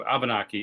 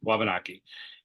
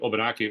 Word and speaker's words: Wabanaki: So the whole issue of Abenaki is that it's a mispronunciation of Wabanaki. And when we used to speak our language in a more traditional way, the W was an O. So if I'm saying Obanaki, Obanaki, Obanaki, Obanaki, English, French, Portuguese,